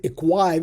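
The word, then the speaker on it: http-equiv: The HTTP equiv or some people pronounce it equive it doesn't matter it's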